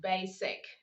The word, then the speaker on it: basic: For example, we have the word basic. The S is between two vowels, but you don't say basic.